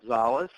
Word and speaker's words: Szollose: once again to everyone my name is Zales and that's an old Hungarian last name you finally know